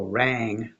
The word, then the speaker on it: rang: So rang does not rhyme with ran. Ran, rang, ran, rang. There's no rhyme there.